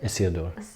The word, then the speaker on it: Isildur: Isildur.